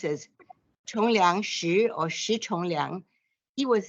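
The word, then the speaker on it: Shih Chung-liang: In Chinese, it's pronounced as Chongliang Shi or Shi Chongliang.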